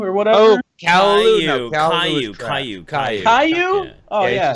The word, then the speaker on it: Caillou: Kalu or whatever? Oh, Caillou.